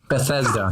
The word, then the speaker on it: Bethesda: 2017, and the winner was, according to them, Bethesda. Bethesda.